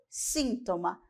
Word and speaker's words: síntoma: Sintoma e síntoma.